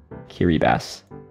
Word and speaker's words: Kiribati: the altar pronounced pronunciation is kiribati it's actually kiribati so this is pronounced oh i see basically it's pronounced